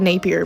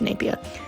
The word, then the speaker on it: Napier: It looks like Napier, but it's pronounced Napier.